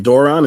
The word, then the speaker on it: Duran: Doran, is that how you pronounce his name? From the source? Duran. Yeah. Duran.